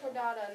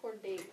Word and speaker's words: Chordata: It's supposed to be chordata, not chordate.